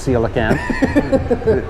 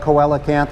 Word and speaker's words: coelacanth: we make great beer they can learn to pronounce seal again right so it's coelacanth e yeah we get a lot of koala can't and i totally understandable